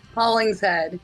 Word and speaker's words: Hollingshead: how do you pronounce the last name? Hollingshead.